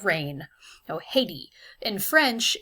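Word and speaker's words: Haïti: i in this case haiti would be a perfect example of that except that in french haiti is pronounced as i d the h is silent as it is in many french words and the a and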